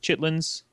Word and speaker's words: chitterlings: Uh, chitterlings is is just chitlings is how I've always pronounced it.